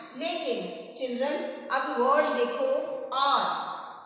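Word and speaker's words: hour: अभी आप देखो कि जो आर है, इसकी जो प्रोनाउंसिएशन है आर की, वो हमें साउंड किस चीज की साउंड आ रही है, ए की साउंड आ रही है। लेकिन जो हमारा एच है उसकी साउंड तो आ ही नहीं रही है। इट मीन्स कि एच क्या है, यहाँ पर एच क्या है, साइलेंट है।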